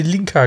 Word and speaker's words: Linka: Lenka, genau, nicht Lenker, Lenka. Hm. Ja, komm, neu dran. Lenka? In der englischen Originalfassung wird sie Linka geschrieben und ausgesprochen.